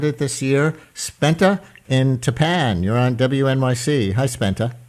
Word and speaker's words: Tappan: Because my understanding is, right, the name of the town in Rockland County is Tapan, even though it's spelled the same as Tappan Zee Bridge. Yes, Tapan.